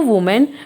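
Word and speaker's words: women: थे इफिजी of speaking of मोर थन टू वूमेन with spirit S विमेन the correct pronunciation of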